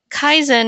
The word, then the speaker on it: Kaizen: a clear definition, but Kaizen is, 2 syllables.